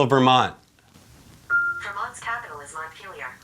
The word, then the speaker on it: Montpelier: Vermont's capital is Montpelier. Montpelier. Montpelier. I said it wrong. No, you did say it right. It was Montpellier.